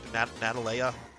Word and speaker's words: Natalia: I want to say Natalie. That's not correct. Natalia.